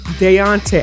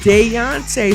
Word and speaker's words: Deontay: you doc um look deonte i i say his name again wrong it is deontay so deontay if you